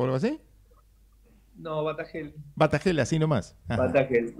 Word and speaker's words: Batagelj: Pronuncio bien su apellido porque me da ganas de, a veces le pongo Batagelli, sería, ¿qué es? ¿Croata o algo así? No, Batagel.